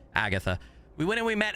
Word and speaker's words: Agata: Uh, it says Agata, but the name the game pronounces her name as like like there's an H there. Agatha.